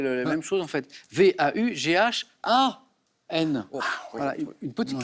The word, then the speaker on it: Vaughan: Vous venez d'entendre Sarah Vaughan interpréter Autumn Leaves.